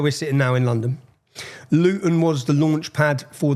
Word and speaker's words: Luton: And so anyone if you don't understand Luton Luton see I pronounce my tea there.